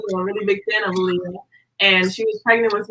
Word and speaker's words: Aaliyah: AALIYAH, am I pronouncing your name right?